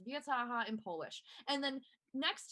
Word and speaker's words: Wojtyła: It's pronounced Wiataha in Polish.